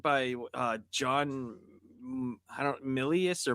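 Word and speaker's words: Milius: I mean you you have uh who it was directed by uh John I don't Millius or Malias, how do you say his name? Millius.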